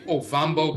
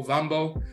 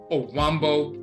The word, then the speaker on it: Ovambo: But you also have in Namibia and Angola, you have the Ovambo people. Ovambo, O-V-A, Ambo, Ovambo, but some of them pronounce it Owambo with the W.